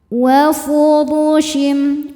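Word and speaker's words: وفرش: Wa furushim wa furud. Huruf ra dibaca secara tafkhim karena harokatnya di atas dhammah. Cara bacanya ditebalkan.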